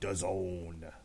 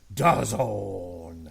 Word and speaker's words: DAZN: versus Tyrone Spong on DAZN. Please don't say it like that. DAZN. Stop. It rhymes with calzone.